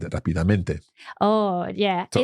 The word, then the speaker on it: rápidamente: I think until this moment in my entire Spanish-speaking life, I've mispronounced that word and said it rápidamente.